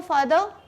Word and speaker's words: farther: अब ये है FARTHER, लेकिन इसमें आर साइलेंट होता है, आप आर नहीं कहते, इसलिए उसे भी हम बोलते हैं यू वांट टू गो फादर, यू वॉन्ट टू गो फर्दर, ठीक है, यू वॉन्ट टू गो फर्दर।